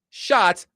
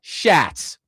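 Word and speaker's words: Schatz: And he made sure to tell Connor before he came on the air, "My last name is pronounced shot, not Shhats."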